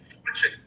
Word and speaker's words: Forchione: Is that how you pronounce it? Fortune.